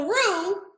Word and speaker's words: roux: make a roux what what is that so rue who knows how it's spelled you know how it who show in the pants how many of you damn it this isn't live okay roux is f roo is like a gravy and it's spelled r-o-u-x